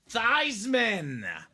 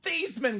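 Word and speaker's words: Theismann: 1983 NFL MVP Joe thyman I will give the quick version of the story uh for those that don't know Joe thyman was Joe thian growing up touchdown machine in high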